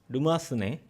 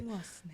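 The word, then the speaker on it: Remoissenet: 이제 사실 R 발음 같은 경우에는 불어로 이제 그 R이라고 하지 않고 흐무아스네라고 이제 발음을 합니다. 근데 흐무아스네. 제가 발음이 좀 약해서 그냥 어색하게 르무아스네라고 했고요.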